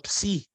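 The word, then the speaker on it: ψ: no formato minúsculo e não existe equivalente na língua portuguesa porque uma combinação de duas vogais então Psi Psi Tá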